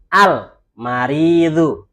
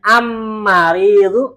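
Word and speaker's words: المريض: Karena alamnya dibaca Al-Maridu. Kan gitu. Kalau kita bacanya Am-Maridu, enak nggak? Nggak enak. Kenapa?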